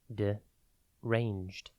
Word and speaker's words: deranged: one word at a time today's word is deranged it is pronounced d ranged and it is spelled D e r a